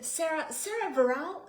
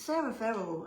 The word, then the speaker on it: Sarah Verrill: It's Sarah Verrill, and that's very ordinary sounding. I much prefer Verral or Virali. But yeah, Verrill is the basic English way of saying it.